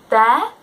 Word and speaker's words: they're: So they're going to the circus is the same as they are going to the circus. So we use they apostrophe R-E. It's pronounced there, but it's a contraction, just like you're or I'm or I'd.